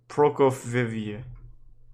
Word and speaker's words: Prokofieva: Prokofieva. Yep, that's how you say it.